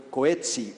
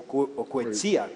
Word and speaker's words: Coetzee: el premio Nobel sudafricano John Maxwell Coetzee o Coetzee, como creo que se pronuncia en Afrikaner.